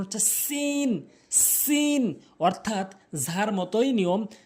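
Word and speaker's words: سين: করবেন সিন ভুল উচ্চারণ সিন ভুল উচ্চারণ সঠিক উচ্চারণ হচ্ছে সিন সিন অর্থাৎ ঝার মতই নিয়ম জিহ্বার আগার সামনে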